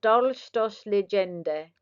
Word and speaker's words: Dolchstoßlegende: Pronounced Dolchstoßlegende.